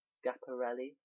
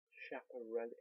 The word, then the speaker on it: Schiaparelli: Is Skia Per Scap Skia Scaparelli? Oh my god, how have I forgotten how to say her name? Scaparelli? Schiaparelli.